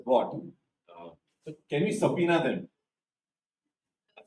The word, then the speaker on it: subpoena: India no subpoena okay and B is silent so it's subpoena okay so these things